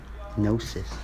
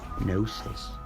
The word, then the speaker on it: gnosis: It's just knowingness, gnosis, spelled with a G, gnosis, about this situation.